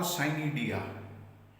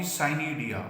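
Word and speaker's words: Pycnidia: Next is spermogonia or cynidia. Here P is silent. Then you will say only cynidia or spermogonia.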